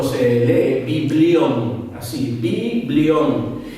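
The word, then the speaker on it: βιβλίον: Libro en griego se escribe o se lee biblión, así, biblión. Y de allí viene la palabra Biblia. Eso es, libro en griego es biblión, B-I-B-L-I-O-N, biblión.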